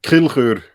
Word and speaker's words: Kilchör: parcel for two years awesome now can you pronounce your last name for those listening uh kill her okay with German yes even the even the